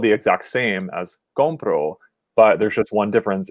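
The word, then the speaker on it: compró: so in this case moving the stress to the second syllable compro changes both the tense like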